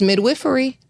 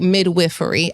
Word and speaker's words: midwifery: It's midwifery.